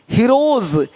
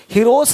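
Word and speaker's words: heroes: हीरोज, हीरोस नहीं, देख रहे हो, रुपीस नहीं रुपीज, ज का साउंड आ रहा है हल्का सा।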